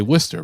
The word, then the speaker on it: Worcester: I say Worcester rhymes with blister, and that seems to work.